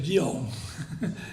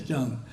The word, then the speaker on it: Chŏng: The modern spelling system, the Korean government wants to spell it Jeong, which people don't know Korean think is Jeong. It's Chۆng.